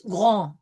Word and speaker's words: grand: So we are going to really pronounce this grand. Comes from the back of the throat through the nasal R and then out through the nose.